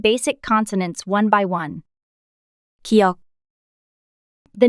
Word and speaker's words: 기역: The consonant Giyeok sounds like the G sound you make when you pronounce the English word gun, and it looks similar.